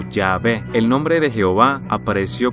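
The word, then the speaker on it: Yahweh: y h wv h nadie sabe realmente cómo pronunciar esto porque estuvo fuera de uso durante tanto tiempo pero muchos creen que la pronunciación más probable sería llave o llave el nombre de jehová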